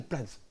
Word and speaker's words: Platz: Et pour pouvoir en parler aujourd'hui, j'ai le plaisir d'accueillir Jeanne Platz. Bonjour Jeanne. Bonjour. J'ai bien prononcé Jeanne Platz, c'est bien ça?